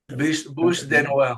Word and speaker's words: Bûche de Noël: Bûche de Noël. Bûche. Okay. Noel, yeah. Bûche. You have to say it really funny. It's like Bûche de Noël.